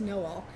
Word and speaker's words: Noel: It's going to be Love Finds You in Noel, Missouri, and so it will be a Christmas book. Although the actual town name is pronounced Noel, but it is also sort of a Christmas